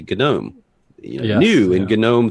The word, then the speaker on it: GNOME: um so I yeah I just started saying gome because I think the English would support that but well anytime I'll do a video I say both and I started saying gnome early on because if you go to the gnome website or the gome website they'll say gnome you new in Gnome